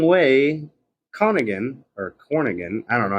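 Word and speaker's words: Corrigan: In 1938, Douglas Wrong Way Cornigan, I don't know how to pronounce his name. It's Cornigan!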